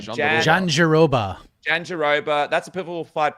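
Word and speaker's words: Jandiroba: Jan Deir Mike, how do I pronounce this name? Janeroba.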